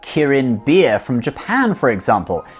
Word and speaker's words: Kirin: And now many Chinese and Asian brands also use the chilein in their branding like Kirin beer from Japan for example. Kirin is the Japanese pronunciation of chilin and you can see a golden chilein in the middle of their logo.